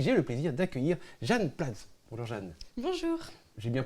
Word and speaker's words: Platz: Et pour pouvoir en parler aujourd'hui, j'ai le plaisir d'accueillir Jeanne Platz. Bonjour Jeanne. Bonjour. J'ai bien prononcé Jeanne Platz, c'est bien ça?